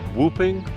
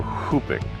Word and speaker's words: whooping: Jane brief pronunciation question is whooping or hooping uh you can say either Jane what's your preference